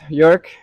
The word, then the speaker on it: Joerg: So, yeah, my name is Jük. Hard to pronounce.